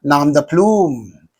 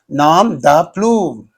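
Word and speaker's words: nom de plume: Nam the plume. Nam the plume.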